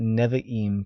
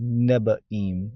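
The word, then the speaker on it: נביאים: So it wasn't nevi'im, prophets, it was nebaim with a b.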